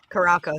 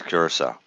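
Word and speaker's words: Curaçao: was because i was running the uh the pronunciation thing oh yeah karako sounds better just saying that listen when i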